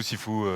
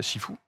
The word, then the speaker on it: Sifu: Et donc Shifu ou Sifu, c'est la même chose. Les deux sont totalement acceptés. Alors vous vous posez peut-être la question, mais qu'est-ce que c'est Shifu?